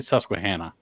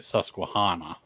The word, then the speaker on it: Susquehanna: uh several people say several people say different ways I say sus Hannah SS I know yeah I know when people get up north they start like Susana that's I guess that's more it's all Native American tribes the susqu hanok tribe settled in this region so uh but everybody around here says susanah U we basically have